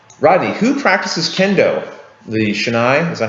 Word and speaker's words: shinai: The Shinai, is that how you pronounce it? Shinai, yeah.